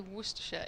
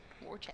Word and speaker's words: Worcestershire: So whenever I say Worersha it's always a bit like just stop for a minute.